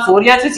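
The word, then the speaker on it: psoriasis: एस for silvery and एस फॉर यहां पर सोरियासिस याद रखना है, तो एस से silvery white scaly legion and एस से सोरियासिस को याद रखना है, क्योंकि पी इसमें साइलेंट होता है, तो एस से सिल्वरी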